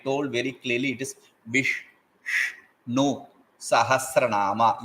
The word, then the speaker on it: Viṣṇusahasranāma: And I told very clearly it is Vishnu Sahasranama. You have to touch the upper portion of your mouth.